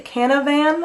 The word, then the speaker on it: Canavan: up the magician skill by Trudy canavan I believe is how you say it this is the first